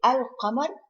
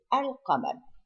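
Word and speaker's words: القمر: And Lam at-Ta'rif, like if you say Al-Qamar, it is pronounced. This is Al-Qamar. If we say Ash-Shams, here it is not pronounced at all.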